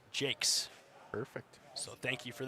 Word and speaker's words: Jacques: says I remember correctly he does not go by the French pronunciation and it's pronounced Jake perfect so thank you